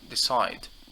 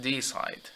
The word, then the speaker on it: decide: for verbs we handle we tend to stress the second syllable if it was of two syllables we could say decide decide not d side yeah or if it's